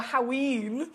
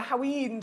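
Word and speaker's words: Haüyne: Did you manage to get your fabulous stone, your Haween, as they pronounce it, the Haween today?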